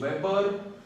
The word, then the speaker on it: weber: तो ये जो है ना WB, इसको हम लोग बोलते हैं वेबर, WEBER, name of a great scientist वेबर हु हैज his contribution towards magnetism.